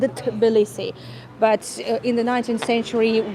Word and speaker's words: Tbilisi: Well, Tiflis, it was just so-called the European name, basically, because Tbilisi was very difficult to pronounce, and Tiflis wasn't really used by Georgians. Georgians would always say Tbilisi.